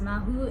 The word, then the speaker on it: Mawu: on this one goddess her name is ma who and it's spelled M aw you and I'm just gonna